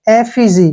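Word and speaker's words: effigy: में यहां पर देखिए ई का उच्चारण हम ए करेंगे ठीक है ना जब भी ई के बाद डबल सॉरी कंसोनेंट आता है तो ए का उच्चारण होता है ई से ए हो गया डबल एफ से फ हो गया और आई का जो है ई बन जाएगा और जी से ज हो गया और वाई का ई हो गया एफजी क्या पढ़ेंगे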